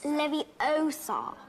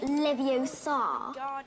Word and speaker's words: Leviosa: It's Leviosa, not Leviosa. You do it then if you're so clever.